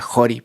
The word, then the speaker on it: Ccori: Pero por otro lado hay un gran proyecto en Perú que se llama Jori, creo que se pronuncia Jori porque está en alguna lengua nativa. Se escribe CCORI, que es de un chef increíble que se llama Palmiro Campo.